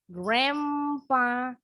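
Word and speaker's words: grandpa: kita ke sini jadi dreampar perhatikan pengucapannya kemudian huruf N ya berubah bunyi jadi mrempa begitu juga yang ini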